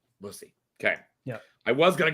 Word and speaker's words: Busse: uh you're pretty close it is a variation it's actually pronounced busy busy okay yeah I was